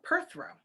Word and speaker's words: Perthro: oh here we go perth throw perth row okay so that's how you pronounce it so perthro is a